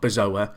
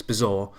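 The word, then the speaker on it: Bazoer: this guy's name cuz it's not bazo it's bizar I'm probably going to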